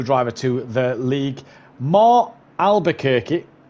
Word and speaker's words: Albuquerque: to the league, Mar Albuquerque. And Mike guaranteed me that's how you say that one. So Albuquerque is how you pronounce it, Dan.